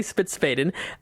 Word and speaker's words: Spitzfaden: Is that how you say it? That is, we Americanized it. Yeah, Spitzfaden.